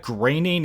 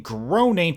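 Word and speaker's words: Groening: Knowing that graining is the actual way to pronounce the guy's name, you completely messed up the most basic joke on the planet by saying groaning to dust instead of graining.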